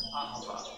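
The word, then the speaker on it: אהבה: It's pronounced ahava.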